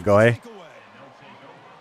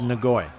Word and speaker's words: Ngoyi: And in every broadcast they said Ngoyi.